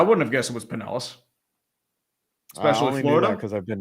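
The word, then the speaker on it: Pinellas: One time um baseball doesn't exist pronounced Panellis County, Florida as Panea. And I was like, well, I mean that makes sense because you think it is uh it is Spanish. Yeah, it would be Paneas. Yeah, you have to go everywhere and experience everything to pronounce things, right?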